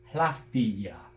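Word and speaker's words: hlǣfdīġe: Now look at that G. It has two front vowels, E and A, around it, and so it's fronted to a ya. So that is hlafdia.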